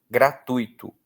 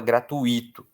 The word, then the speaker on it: gratuito: Gratuito. Tem muita gente que fala gratuito. Não é. A pronúncia é gratuito, não tem acento.